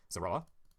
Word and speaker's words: Zoroa: summon the Zora, or Zora, how do you pronounce that card? Zoroa.